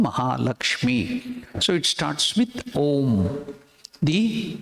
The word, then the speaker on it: Om: That's why we utter Om. It has this 3 syllable. A, U, rolling. Ma, end.